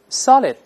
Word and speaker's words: solid: 老师大声再来一遍 solid， solid。